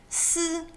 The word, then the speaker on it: ㄙ: Then there's s as in snake without the nake. S.